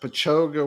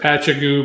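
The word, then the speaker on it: Patchogue: Was that Pachoga, whatever, Choga, New York? Pachoga, Yeah, we used whatever. to pronounce it Patchagoo, but someone corrected us in Pachoga, the yeah.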